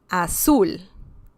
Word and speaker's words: azul: subtle okay the next the next word is azul that means blue once again we see the stressed syllable is the last one so remember palabras agudas